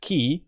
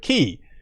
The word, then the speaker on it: χ: letter x variably pronounced key or chi has as in a martial artist chi etc for this series it is pronounced to rhyme with key which is why the